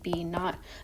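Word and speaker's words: B₀: And they are surrounded by a magnetic field, aka B naught, but I call it Bo. So if you hear me call it Bo, then I'm saying it wrong, but it's cute, so don't worry about it.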